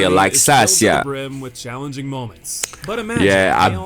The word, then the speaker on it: Laxasia: That's how you say it, Laxasia.